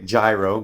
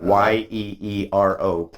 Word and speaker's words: gyro: People say gyro, but Yes, gyro. Yeah, It's a Gyro sandwich. Yep. Yeah, It's like Yeero.